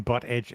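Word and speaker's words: Buttigieg: remember from the primaries that's how you say his name butt Edge Edge expected that's it that's how he was telling people it's like butt knife knife weird yeah because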